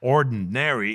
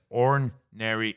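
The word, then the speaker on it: ornery: It's not ordinary. It's spelled o n o r n e r y. So that's orary angel.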